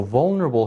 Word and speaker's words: vulnerable: So vulnerable has 4 vowel sounds, 4 syllables.